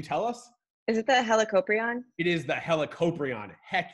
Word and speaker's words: Helicoprion: the way you said the name I always mispronounce it can you tell us this guy's name one more time helicoprion helicoprion hella copra and hella means round a world